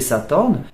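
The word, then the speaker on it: สาทร: s'appellent sathorn en taille il s'écrit avec un air à la fin mais on ne peut pas le prononcer comme ça donc on va le prononcer sathorn mais dans sa translittération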